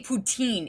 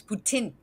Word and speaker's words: poutine: can't believe you say poutine it's putin because uh there's this there's exceptions to the rule but mostly the rule for all francaise words is you don't pronounce the last letter i always just do